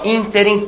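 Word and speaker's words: ínterim: alcali alcali e interim muita gente fala interim não é nesse interim não pode hein nesse interim então interem também uma palavra proparoxitona algumas palavras podem ser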